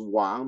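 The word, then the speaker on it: 王: And the character is pronounced Wang, meaning king, about the kingly person having finished his epistemological journey.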